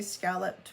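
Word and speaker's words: escalloped: So I found out that yes, we have in modern times dropped that initial e from the spelling of the word and it is not pronounced. So from now on I'm going to just say scalloped when it says esc scalloped.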